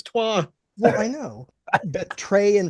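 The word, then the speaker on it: trois: though I thought it was trey leachch like that was three three isn't even trey in French it's twa well I know trey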